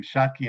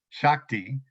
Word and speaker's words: Shakti: just thank you shotkey i keep pronouncing your name shotkey instead of shakti sorry about that but